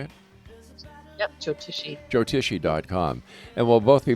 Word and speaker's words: Jyotishi: Yep, Jyotishi.